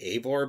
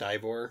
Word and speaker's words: Eivor: I always say Eivor, but I think it's pronounced Ivor.